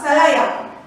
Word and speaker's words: Salaya: and from Salaya, so that pronunciation is very important.